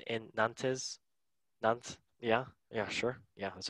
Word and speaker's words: Nantes: Nantes, yeah, sure.